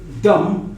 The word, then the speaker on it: dumb: As I told you, if the word ends with M and B, then the B is silent.